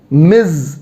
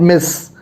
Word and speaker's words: Ms: you means miss the z sound say after me miz not miss miz all right great so